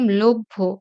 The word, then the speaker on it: লভ্য: সেরকম লভ্য, আগে ব, তারপরে ভ।